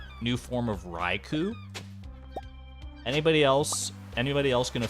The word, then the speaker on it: Raikou: thought it was Raichu I mean it's Ri r-a-i-k-o-u so unless they're getting real quirky with their pronunciation I think it could only be I could I've heard ryko I've heard raiku which I I go with personally because it makes sense it's like a cougar which I know doesn't always translate to pronunciation but it makes sense in my head at least are we not talking